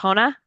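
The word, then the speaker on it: Arjona: He's played by Kyle Marvin, who I'm not familiar with, and him and his wife, Adria, how do you pronounce her last name? Arona. Arona.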